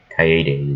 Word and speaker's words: Kaede: Well, I would say Cade, but I should at least say it right one more time. Because I'm pretty sure all of you hate me for saying it as Cade when it's Kaede.